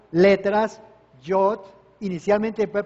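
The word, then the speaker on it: יוד: La primera letra que se pronuncia Yod, Yod, que es la Y de yuca, ¿sí?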